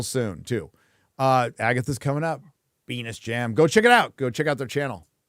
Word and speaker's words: Venice Jam: Our name pronounced, Venus Jam?